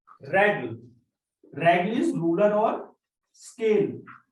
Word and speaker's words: règle: So E is A, but when we put this accent, it become A. Règle. Règle. So here it changed the pronunciation. Accent grave changed the pronunciation of letter E.